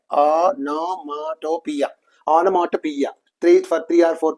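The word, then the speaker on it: onomatopoeia: okay that is called anopia so see the pronunciation anopia onia anopia three for three or four times three to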